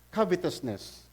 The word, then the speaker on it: covetousness: mo ako non ha ba always wanting more discontentment always led to the scene of covetousness sa amerikano ang pronunciation nila diyan ano eh covitoousness kaso pilipino tayo eh covetousness okay sanay sa covetousness